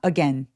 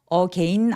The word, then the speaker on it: again: 여러분 여기서 또 맨 마지막 단어, 이거 발음하실 때 again이라고 진짜 많이 하시거든요. again 아니고 again, again 라고 해주세요.